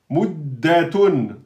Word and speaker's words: مدة: Muddatun, muddatun. Attention, le dal, il porte une shadda. Mudda, muddatu.